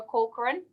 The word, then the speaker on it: Corcoran: Barbara Corcoran.